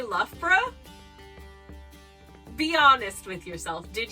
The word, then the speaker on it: Loughborough: Now, if you've never heard the name of this place, how would you guess it's pronounced? Did you say Loughborough?